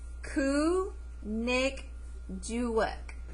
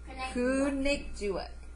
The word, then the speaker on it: Kunikjuak: the name together, and you pronounce it Ku-Nik-Juik. Ku-Nik-Juik. Okay? So we're going to say it one more time. Ku-Nik-Juik. Okay, now we're going to put it together. Ku-Nik-Juik. Kunikjuak.